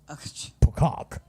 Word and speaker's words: Pocock: Oh, and Paul Pocock said the E is silent. That helps. So it is P-O-C-O-C-K. Silent E. Pocock.